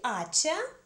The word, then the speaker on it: hacha: Нам нужно запомнить следующее, что если слова женского рода начинаются с «а» или с «а», с «аче», но «аче» здесь не читается, под ударением, я взяла